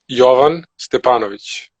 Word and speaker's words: Jovan Stepanović: So it's Jovan Stepanović. Okay, see, because it's spelled with a V, so I would say Jovan, but that's not Yeah, right. yeah, it is. It is Jovan. Jovan. It's not Jovan.